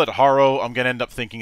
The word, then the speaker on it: Harrow: 60 40 split of people who call it hero instead of Haro so you're definitely not alone I guess I